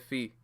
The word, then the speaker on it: Fi: I pronounce it as Fee. The Zelda character from Skyward Sword, I pronounced her name as Fee.